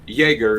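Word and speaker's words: Jäger: what um for example the word Jaeger is spelled Jagger but it's Jaeger because the Y the J X is a y in german yes but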